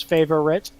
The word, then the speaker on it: favorite: It's supposed to be 3 syllables, favorite, but they got rid of the O and just said favorite.